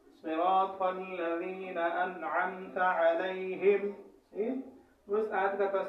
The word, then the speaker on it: الذین: ہو، اسے بچنا چاہیے۔ یہاں ذال میں صراط الذین، یہ ذال جو ہے باریک لفظوں میں سے ہے، اس کا مخرج الگ ہے، اور زا کا مخرج الگ ہے، زا کا مخرج الگ ہے، ضاد کا مخرج الگ ہے. تو یہ کوئی بھی لفظ یہاں پر آپ نے ادا نہیں کرنا ہے، بلکہ ذال کو ادا کرنا ہے، یہی آواز آپ نے نکالنی ہے.